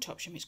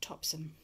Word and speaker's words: Topsham: Topsy meet option oh it's not called top shimmies called Topsham told off for that for saying it wrong for someone in the